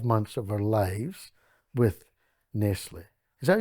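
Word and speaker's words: Nestlé: we wasted 12 months of our lives with nesle is that how you say it Nestle that's how I say it yeah Nestle anyway they had Engineers Consultants coming every week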